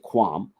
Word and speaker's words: QAM: uh quadrature amplitude modulation we pronounce it quam uh and uh it's